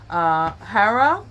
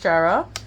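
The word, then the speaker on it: Jera: And this is what's coming up for you, which is Hera, or it can be pronounced Jara.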